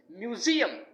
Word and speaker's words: museum: the next word is Museum it should not it shouldn't be Museum it should be museum museum Z should be stressed and Museum means a